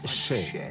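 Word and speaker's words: še: été interdit sur Edit le mot orge en sumérien se prononce che il a déclaré sur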